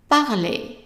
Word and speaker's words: parler: And then ER at the end of verbs is pronounced as a short A. So, A, and A. So, how would you pronounce the whole word? parler, parler, parler.